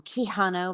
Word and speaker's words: Quijano: Quijano. I asked her in the beginning if it was Keanu, like, the hot, sexy Reeves. It wasn't, but that's okay, because I used to call him Quijano back in the day before I got the